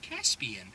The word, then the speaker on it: Caspian: Like, oh, Caspian sounds like Ian with a C-A-S-P at the beginning of it.